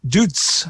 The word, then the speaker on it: Dutz: You don't pronounce a Z. You do. Dutz. Dutz.